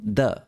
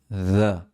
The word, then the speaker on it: de: Algo más que podemos notar en esta línea es que la segunda instancia de no empieza con the, sino con the, como la th de mother. De una vasija de barro.